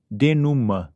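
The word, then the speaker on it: dénouement: decidido ou deixado Claro e se pronuncia denum do meu ponto de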